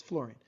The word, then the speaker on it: fluorine: most often misspelled element fluorine f-l-u-o it's not pronounced like that by the way it's fluorine fluorine has seven out of eight it's so